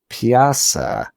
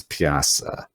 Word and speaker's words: Pyaasa: on freaking Wikipedia, because it's like Pyaasa, but it's like PJA:SA, and I don't know how to say that, so it doesn't help me pronounce it. I've been really butchering it then. I think it's Pyaasa.